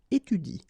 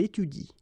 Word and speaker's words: étudie: pronounce it like il étudie. Okay, so the last thing that you will pronounce will be the vowel I here. Okay, il étudie.